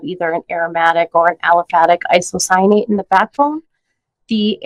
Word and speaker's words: aliphatic: segments you know there's aromatic althetic aliphatic am I saying that right aliphatic aliphatic I said it right I think so said it